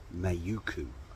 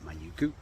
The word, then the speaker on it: Mauku: I'm staying at a little place um called mayuku and m a u k u I think that's how you pronounce it manuku um in South Auckland and it's about 10k's